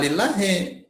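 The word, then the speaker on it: لله: Jadi nanti bacanya la lillahi. Tuh, maka alif ini dibuang. Tuh, dengan alif dibuang akan terjadi lamnya 3. Tuh. Lillahi. Tuh, maka dibuang satu lagi. Disederhanakan jadi lillahi.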